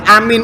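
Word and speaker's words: آمين: Nah, la amin ini dibaca dengan sukun nunnya.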